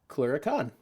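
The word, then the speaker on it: clurichaun: Oh, actually, there's pronunciation there. Clericon.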